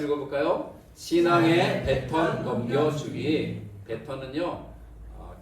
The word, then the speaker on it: baton: 베턴은요. 계조할 때 쓰는 흔히 바톤 혹은 바통이라고 읽컫는 거죠. 계조 아시죠? 계조. 이어달리기 할 때 막대기 있잖아요. 넘겨주는 막대기. 그게 영어로 베턴입니다. 베턴.